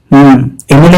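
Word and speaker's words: MLA: एमएलए का उच्चारण होता है एम एल ए, यानी वावल साउंड से शुरू होता है और वावल साउंड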